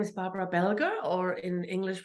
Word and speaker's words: Belger: yeah so my mom my name is Barbara belger or in English pronunciation that's Belgium um I I was I grew up as